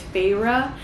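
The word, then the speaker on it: Feyre: we are reading about I think I pronounced her name wrong yesterday it's farra um which is what I know now and I've met her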